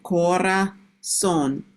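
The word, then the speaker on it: corazón: you just to reiterate the Zed in kora son is more s no zed sound. Yes. And yes, it's more S. We don't have that buzzing sound that English has for for the letter Z.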